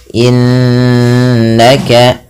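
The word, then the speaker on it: إِنَّكَ: Kemudian innaka, nunnya berharokat tasydid lagi. Ada nun tasydid atau mim tasydid dibaca dengan bacaan gunnah. Cara membacanya menahan bunyi suaranya sepanjang 2 harokat. Innaka, tidak hanya sekedar innaka, tapi ditahan.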